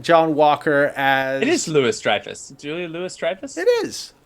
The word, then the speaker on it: Louis-Dreyfus: well, I mean, that's like now it's you're like a- now you're breaking my brain because I've been saying Julia Louise Julia- Dreyfus for my entire life.